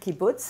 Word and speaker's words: kibbutz: like living in the kibbutz apologies if i didn't pronounce that properly no you did kibbutz is exactly how it's pronounced you know it was